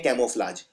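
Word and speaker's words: camouflage: बदलने को बोलते हैं कैमफ्लेज तो कैमफ्लेज में आपको पहले लिखना है कैमो अब कैमो में एक यू भी आता है कैमो यह प्रोनाउंस नहीं होता है लेकिन आता है और फ्लज तो सिंपल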